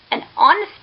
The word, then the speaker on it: honest: not sounded, which means H is silent in these words, and these words begins with the vowel sounds. For example, an honor, an hour, an honest man.